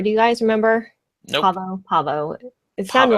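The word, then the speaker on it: Pahvo: Had they mentioned Parvo before? Do you guys remember? Nope. Pavo. It sounded Pavo. like Parvo in the show, but it's spelled P-A-H-V-O, Pavo.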